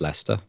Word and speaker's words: Leicester: Lester which is spelt Lester or Lester but pronounced Lester there are lots of British place names that